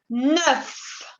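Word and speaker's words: neuf: 9. 9. La EU en este caso se pronuncia como la schwa en inglés, es E. E, como la E del alfabeto.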